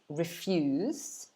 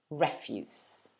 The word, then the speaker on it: refuse: the verb well done so let's compare the verb is refuse and the noun refuse okay so one more time refuse and refuse that's it okay so